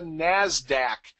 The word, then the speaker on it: NASDAQ: The other large exchange we have is the NASDAQ. And again, that's the usually accepted pronunciation, and that's the National Association of Securities Dealers Automated Quotation System.